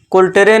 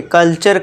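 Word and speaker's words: culture: कल्चर, फ्यूचर, कुल्टरे नहीं कल्चर करना है, अर का साउंड, फ्यूटरे नहीं फ्यूचर, फ्यूचर, नेचर, कल्चर, फ्यूचर।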